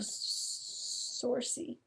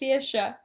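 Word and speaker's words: Saoirse: Saucy. Saucy? Saucy. What? It's pronounced Searsha.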